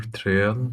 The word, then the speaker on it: trial: trial, Because, one syllable finishes with a vowel sound, and the next syllable starts with a vowel sound. So you always have to repeat the original vowel sound. So you say try, that ends with an E sound. So you repeat that E.